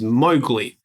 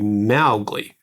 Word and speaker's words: Mowgli: may have similar note Disney's preferred pronunciation of the boy's name is Mowgli. Mhm. Rajad Kipling himself said it should rhyme with cow. So it should be Mowgi.